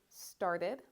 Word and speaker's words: started: if your word ends with T or D, you're going to make sure to make that ed sound. So for example, this is wanted, this is started, this is needed, and this is decided.